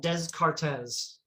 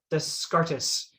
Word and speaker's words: Descartes: think is probably descartes so the name is spelled des cartes the scartus but you know it's a french name and the pronunciation we use is descartes so descartes is this